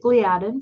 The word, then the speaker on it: gliadin: Gliadin, I'm from Minnesota. We pronounce it gliadin. Some people call it gliadin.